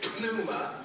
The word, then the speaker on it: pneuma: We might say it's pneuma, but it's actually pneuma. The P is silent.